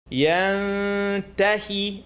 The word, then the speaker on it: يَنْتَهِ: Ta is not in the throat, not yarmalun, tongue not touch. يَنْتَهِ يَنْتَهِ. You're going to say يَنْتَهِ without touching your tongue.